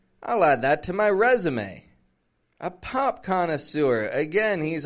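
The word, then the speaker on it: résumé: continue with something resume but we're saying resum we're giving it a strong re and then Z and then may resume and again check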